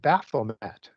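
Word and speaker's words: Baphomet: warrior god was named baffomet or baffome depending on how you want to pronounce that.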